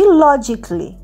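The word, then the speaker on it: logically: এল এল ওয়াই লজিক্যালি লজিক্যালির এ কিন্তু উচ্চারণ হচ্ছে না আমরা বলছি লজিকলি লজিকলি মানে যুক্তিসঙ্গতভাবেশি এক্সপ্লেন স্টোরি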